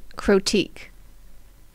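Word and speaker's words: Krotiq: be particularly useful Ambush croque I'm going to pronounce it like it rhymes with Boutique green five for a five five creature insect common trample when Ambush croque enters the battlefield return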